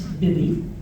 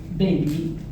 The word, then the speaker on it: Bibby: As Nicole said, my name is Bibby. I must admit that I'm a bit sticky about how people pronounce my name. It's not baby, it's not BB. Like a baby's bib, I'm Bib.